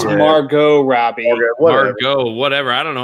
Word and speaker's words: Margot Robbie: What is it, Margaret Robbie? Yeah, Margaret Robbie. She was the. It's Margot Robbie.